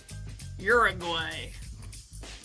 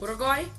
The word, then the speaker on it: Uruguay: Uruguay. Had to say it like an American. Yeah. Can you say it as a non-American? Well, it doesn't start with a "ur" sound. Oh. Uruguay? Uruguay?